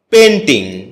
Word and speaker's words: painting: এটাকে আমরা পেইন্টিং বলে থাকি। যার সঠিক উচ্চারণ হচ্ছে পেন্টিং।